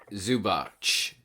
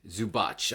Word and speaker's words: Zubac: Zubach. Zubach. I know Croatia the the C is always a ch.